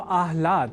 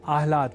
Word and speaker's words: आह्लाद: समझकर या न लिखकर हम आह्लाद अर्थात पहले ह और बाद में ल इस अक्षर विन्यास से युक्त शब्द आह्लाद का ही लेखन और तदनुसार शुद्ध उच्चारण करेंगे।